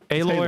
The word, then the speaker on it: Aloy: or alloy Allo hooy aloy or alloy aloy hooy hooy it's alloy though it's alloy cuz it's spelled like hard for that